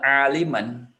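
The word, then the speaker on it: عالمًا: Jadi bacanya adalah aliman.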